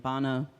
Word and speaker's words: Bana: And Bana, Bana rhymes with Janna.